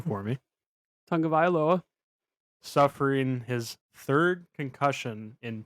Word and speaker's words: Tagovailoa: Tua, pronounce his last name for me, Tagovailoa.